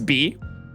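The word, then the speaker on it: Bea: I think her name is B, which rhymes with P.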